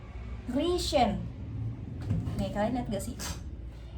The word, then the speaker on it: riechen: Terus kalau ini dibacanya riechen.